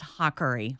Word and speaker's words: Haughery: the GH is a hard Irish K.